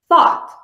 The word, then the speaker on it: thought: of this is GH GH is not pronounced before T when it comes at the end of many words for example thought thought she suddenly had